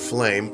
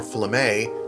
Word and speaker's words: Flamme: Dietra Helena, Dietra Flame, or Flamme, I read recently is how it's pronounced, Princess Orvella Wilson, also formerly Mefford, her birth last name.